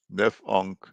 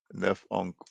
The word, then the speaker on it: Nafaunkh: Nef'onk. Nef'onk.